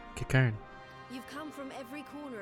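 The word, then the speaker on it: Qiqirn: That's how you pronounce it, Kikern.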